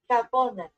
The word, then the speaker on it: Japón: Japan in Spanish. Hap Japan? Japan. Japón. Japón. Japon. Oh, it's Japon.